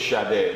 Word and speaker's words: Sada: But of course it's Sada, that's the pronunciation, right?